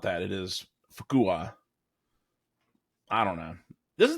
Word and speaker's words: Fuqua: Fuqua? Nope, it's Fuqua.